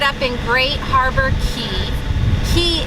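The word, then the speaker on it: Cay: Key is spelled C-A-Y, so if you make your way down to the Bahamas, do not call it a K, because it is a key.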